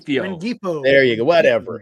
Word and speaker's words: Rengifo: Ringfingo? I never say his name. Right. Rengifo. There you go. Whatever. Rengifo.